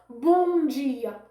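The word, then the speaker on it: bom dia: M dans lui-même, elle passe dans le final, il pas de son. Il seulement fait voyelle qui devant l'en prononcer non, il fait le vin nasal.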